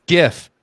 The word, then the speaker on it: GIF: Is it a GIF or a GIF? I think it's GIF. Let's not start that battle. Classic argument. I'm going with GIF though. Hard G. GIF.